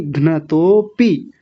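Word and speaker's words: घ्नतोऽपि: घ्नतोपी, अपी नहीं, घ्नतोपी।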